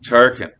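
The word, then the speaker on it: Tarquin: etruscan kings culminating in tarkin yes turken like the grand muff who ran the death star in star wars uh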